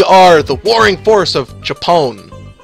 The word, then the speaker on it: Japon: the warring force of japon not japan japone j-a-p-o-n uh fighting the royal